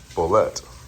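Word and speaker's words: bolete: ble but I found out today that it's pronounced bolette so this I'm confident that this is a king bolette and I think this is also it's definitely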